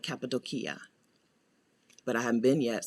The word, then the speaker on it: Cappadocia: instead of antalya and cappadocia which is not pronounced that way people who have been there call it capitol kia but i haven't been